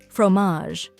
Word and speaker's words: fromage: Some examples include salami, suh-lah-mee, prosciutto, proh-shoo-toh, pâté, pah-tay, fromage, froh-mahzh, cornichons, koh-nee-shohn, baguette, bah-get. Final thoughts. In short, mastering the pronunciation of charcuterie is a valuable skill for any food lover or culinary professional.